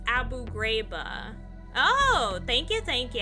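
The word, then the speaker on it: Abu Ghraib: Also, it's pronounced Abu Grabba.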